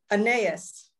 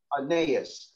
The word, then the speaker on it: Aeneas: How do you pronounce his name? Aeneas. Aeneas.